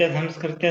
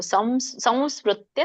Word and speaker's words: ಸಂಸ್ಮೃತ್ಯ: ಇಲ್ಲ ಟ್ರೂ ಹೇಳ್ತಾ ಇದ್ದೀರಾ ನೀವು ಸ ಕೆ ಕವ ಅಂತ ಹೇಳ್ತಾ ಇದ್ದೀರಾ ಮ ಬರಬೇಕು ಸಂಸ್ಮೃತ್ಯ ಸಂಸ್ಮೃತ್ಯ ಸಂಸ್ಕೃತ್ಯ ಸಂಸ್ಕೃತ್ಯ ರೂಪ